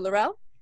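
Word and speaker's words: L'Rell: that we have but yes I play Chancellor Darrell on Star Trek discovery in seasons 1 and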